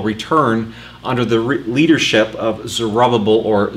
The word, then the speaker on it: Zerubbabel: And that first wave of nearly 50,000 people return under the leadership of Zerubbabel, or Zerubbabel, as I've heard it pronounced as well, and Yeshua, who was the priest.